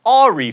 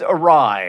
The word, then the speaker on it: awry: because many millions of people don't it's not ahri for instance it's awry epitome is the epitome of mispronunciation you don't go to edinburgh you go